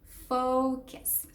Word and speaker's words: focus: The first syllable, it's fo, and it's fo, fo, fo. Not fa, it's fo. Second syllable is kiss. It's a K and then a schwa sound.